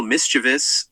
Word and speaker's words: mischievous: Mischievous. He didn't even say it right. Mischievous. Mischievous? Do y'all say it like that? Mischievous? If you do, pretty sure that's wrong. It's like mischievous.